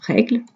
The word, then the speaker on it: règle: Je dis pas règle, je dis règle.